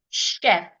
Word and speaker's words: chef: CH cheater Choice much remember I said sometimes CH will not sound CH in words like crash Chef Nish Chev the next